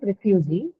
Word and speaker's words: refugee: Similarly, in the case of refugee, though you have other two vowels in the word refugee, which is and u, u actually, the second one is u. The last one is a long vowel, right? It's e. So because it has a long vowel, it has a tendency to shift towards itself, right?